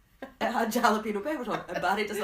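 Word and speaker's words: jalapeño: get off the the subway right it had jalipeno peppers on it bar doesn't like jalap jalapeno oh I didn't say it right jalapeno so he picked them off and threw them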